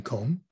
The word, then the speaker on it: comb: it won't help you the b at the end is silent when it comes after an m is in comb okay when it's by